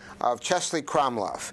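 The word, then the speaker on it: Český Krumlov: Now we're going to take the train, and you see here a picture, postcard of Chesley Kromlov. That's what I couldn't pronounce when I introduced you.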